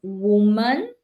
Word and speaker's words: woman: So for the pronunciation, it's woman, the first one, the singular, and women Women. for the plural.